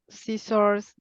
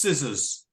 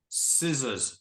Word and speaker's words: scissors: yes I see uh sissors and notebook plant coffee books good yeah so uh oh it's pronounced scissors scissors the C is silent scissors let's repeat scissors